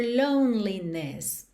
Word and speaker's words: loneliness: But listen carefully to the sound of your loneliness. Of, sempre com som de OV, você já sabe disso, certo? Of your loneliness, loneliness. Então, percebe que esse E do meio não é pronunciado.